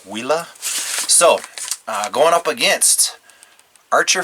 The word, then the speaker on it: Huila: I'm pronouncing that correctly I think the H is silent it's a Spanish word wila so going up against